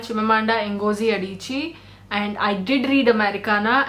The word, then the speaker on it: Chimamanda Ngozi Adichie: Is Americana by Chimamanda Ngozi Adichie. It's okay. I didn't even know how to pronounce her name. She's called Chimamanda Ngozi Adichie, and I did read Americana, and I absolutely loved it.